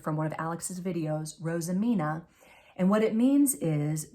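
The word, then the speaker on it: roosimine: of the work this is a technique called rosamina spelled r-o-o-s-i-m-i-n-e but pronounced that I learned from one of Alex's videos rosamina and what it means is to decorate with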